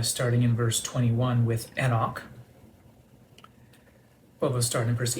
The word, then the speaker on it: Enoch: in verse 21 with Enoch or as you might hear it pronounced more often, Enoch in our Americanized pronunciation.